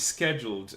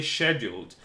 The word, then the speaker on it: scheduled: Oh, guys, this is American English, scheduled. I know that for you guys in Europe, because you are closer to Great Britain, you say scheduled, and this is how I used to pronounce the word for most of my life, because I learned English in a country where British English was spoken.